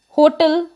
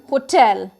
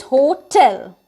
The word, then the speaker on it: hotel: hotel but it is hotel that means the pressure is on word t e l it is tell like we use for telling and all it is hotel it's not hotel the next word is